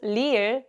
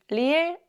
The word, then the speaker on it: 리을: When you pronounce 리을, you should never curl your tongue like you do for the English R.